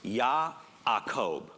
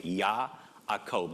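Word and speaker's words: יעקב: Well, in Hebrew, the name is actually pronounced Ya'akob. There's actually an aleph. It's a little guttural letter that goes in between. Ya'akob. The J gets pronounced Y because it just does. Okay? So it's Ya'akob.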